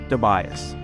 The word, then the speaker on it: DeBias: Can you just say your name just so we have the correct pronunciation? Sure, it's DeBias.